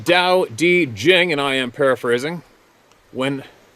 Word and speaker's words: Tao Te Ching: The Tao Te Ching states, pronounced Tao Te Jing. There we go again. Why don't they spell it the way it says? It sounds. Kidding. Pronounced Tao Te Jing, and I am paraphrasing.